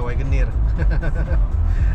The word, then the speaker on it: Wagoneer: Wagoner apa Wagoneer bacanya? Wagoner kali ya, orang Indo mah. W dia Wagoneer.